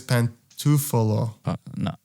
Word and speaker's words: Pantofola: i think it's yeah i think it's pantufolo 100 i think so 100 are you i've had an italian person tell me that's how you say it wow okay then